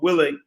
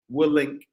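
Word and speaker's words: Willink: vip it's under jock will willing we'll link that's how you say his name uh j-o-c-k-o alphabetical order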